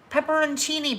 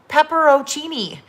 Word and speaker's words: pepperoncini: c i n i pepperoncini peppers yes the peppers right pepperoncini peppers um in a jar so i always call them pepperoccini pepperoccini they're not called pepperotini i learned that's pepperoncini chini i don't know